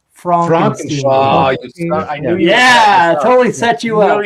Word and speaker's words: Frankenstein: Okay, hey, it's pronounced Frankenstein.